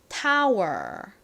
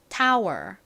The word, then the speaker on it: tower: 발음 하잖아요 해 볼게요 Tower 혀가 천장이나 다른 곳에 닿으면 안 돼요 이렇게 그냥 꼬부리 발음하시는 겁니다 다시 해 볼까요 Tower 자 반면에이 단어를 발음할